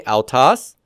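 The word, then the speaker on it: αὐτός: next we have Al Alpha oops Salon ow ow and um this is sort of like um you know sourkraut and so forth and the word for he in Greek is altas so here's the word alas say that with me altas Alas and notice that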